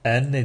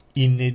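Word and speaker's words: أنّ: Elif Nun maddesi fethalı, yani enne diye okunur. Yani inne diye okunmaz.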